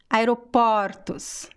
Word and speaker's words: aeroportos: Aeroporto, aeroportos. So the first column is closed and the second column is open sound, okay?